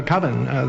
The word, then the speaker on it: coven: is koven koven koven uh coven that's the proper pronunciation no no coven sounds like Oven Man and that's just